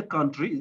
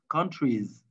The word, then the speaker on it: countries: In English, we always pronounce the S in the end. So country, so don't say country, it's countries.